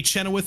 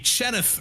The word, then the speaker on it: Chenoweth: scenes producing the action Randy Chenoweth is here Randy chenith rather gotta get the syllables right he is uh helping